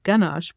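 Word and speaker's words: ganache: a yish word but it's actually a German word and it's pronounced ganash which I didn't know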